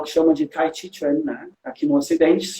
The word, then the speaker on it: Tai Chi Chuan: Então pode perceber que a pronúncia Tai Chi Chuan é muito francesa, porque o chinês fala Tai Chi Chuan, né? Tai Chi Chuan, em chinês, Tai Chi Chuan.